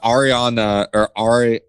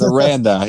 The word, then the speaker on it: Aranda: No Matt Rule, but Ariana, I think that's how you say it. Ariana Grande? No, I think it's Aranda. It's Aranda.